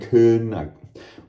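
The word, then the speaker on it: Caen: and a half to Cannes, C-A-E-N, Cun. It's hard for me to pronounce that in French, even though I can pronounce French fairly well, right, French friends?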